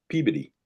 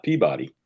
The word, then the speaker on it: Peabody: And then over the next town over is called Peabody not Peabody.